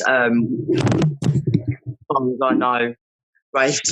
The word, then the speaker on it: Raif: Am I pronouncing that correctly? Yeah, that's right. Raif and Connie.